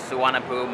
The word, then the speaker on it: Suvarnabhumi: Funny thing, why is Suvarnabhumi spelled like S-U-V-V-E-W, but yet it's pronounced Suvarnabhumi and not like Suvarnabhumi or whatever.